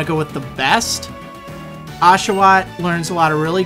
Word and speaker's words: Oshawott: grass type Snivy and then the water type ashaw or as I like to call it oat um but it is actually pronounced ashaw sort of interesting um I'm going to pick